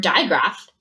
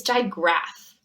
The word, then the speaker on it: digraph: would be confusing it's digraph so the ph in this case combine to make the f sound ch wh okay